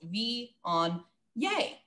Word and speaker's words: Viognier: And when you see it, I always think of it in three syllables. Viognier.